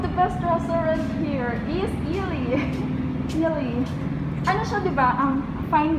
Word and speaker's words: Ayala: This is, guys, I mean guys, the name of the restaurant is Ayala. Actually, I pronounced it Ali before.